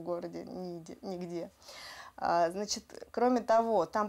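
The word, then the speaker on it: Niğde: Да, он читается как Нигде. Ниде, да.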